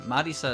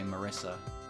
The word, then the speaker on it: Marisa: Marisa is how they pronounce it. But, you know, it's an actual name. So in English, I can just say Marissa, right?